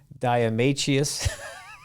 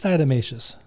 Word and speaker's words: diatomaceous: say this don't laugh diameteus i could never pronounce that word you're close it's diatomaceous diatomaceous okay diatomaceous earth versus